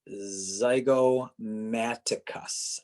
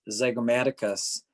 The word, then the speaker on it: zygomaticus: this has a really cool name it's the zygomaticus z-y-g-o-m-a-t-i-c-u-s the zygomaticus so the zygomatic head of the